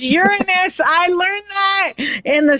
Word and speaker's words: Uranus: It's Uranus.